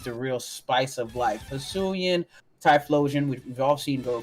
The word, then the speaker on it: Hisuian: Yeah, I'm still gone over your pronunciation of Hisuian as Husini.